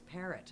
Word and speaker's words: Perrault: But I thought, there's no way in Edmonton that's how they pronounce, and sure enough, it's parrot.